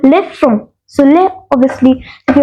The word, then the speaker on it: front: now this f f not front one say front it's from from let's see how to